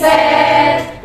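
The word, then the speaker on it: sept: Set. Ya, P-nya nganggur ya. Set.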